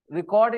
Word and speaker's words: record: record record the verb record is the verb record record record stress on the second part cord part record okay